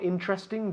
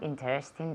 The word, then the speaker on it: interesting: Is the National Geographic more interesting than Hola? Otra vez? Yes, the National Geographic is more interesting than Hola. Okay, has dicho interesting. No. Interesting. ¿Cómo se dice? Interesting. Tiene 3 sílabas.